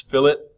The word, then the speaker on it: fillet: It is not pronounced fillet. It's fillet.